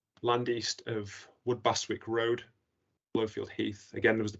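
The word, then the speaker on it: Blofield Heath: We'll move then to site listed EE, which is GNLP ref 1048R, land east of Woodbastwick Road, Blowfield Heath. Again, was the pronunciation correct there?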